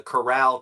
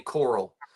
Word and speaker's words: Corral: talking about it and I say it like an idiot uh the the Corral Cafe I say Coral because it's spelled like like the coral snake red touches red